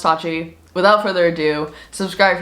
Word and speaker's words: Tatchi: can't believe it it's sustainable streetwear it's called pronounced touchy without further ado subscribe if you're new and let's just let's get straight into this video it's pronounced touchy as you guys can probably tell i